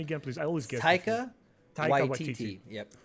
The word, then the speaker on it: Taika Waititi: So this director now is, pronounce his name for me again, please. I always get Taika Waititi. Yep. Taika Waititi, yeah.